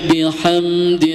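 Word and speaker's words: بِحَمْدِ: Fasabbih bihamdi rabbika wastagfir ya bihamdi e izhar syafawi. Jangan sampai huruf mim ini digunahkan. Kebanyakan digunah. Fasabbih bihamdiab. Nah, itu sudah termasuk gunah. Jadi ditahan dulu. Nah, itu salah ya.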